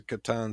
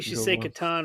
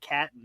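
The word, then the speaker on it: Catan: in my desk $44 special Le Katon right can mark that question off my list you say it correctly we'll move on so what happens if I said it wrong sometime oh no well I'll tell you though that's that's you know at least you don't say something weird like catton or something oh that's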